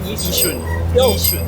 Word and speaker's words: Yishun: How do you say it? Yishun. Yishun, so you don't pronounce the Y. Yeah, so the Y is silent. So what is the reputation that Yishun has?